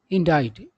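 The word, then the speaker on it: indict: उसके बाद हो गया आपका इंडाइट। इसका उच्चारण इंडाइट होता है, इंडिक्ट नहीं।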